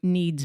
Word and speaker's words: Kneads: So I went to Need's Bakery, which is spelled Kneads, clever, so clever.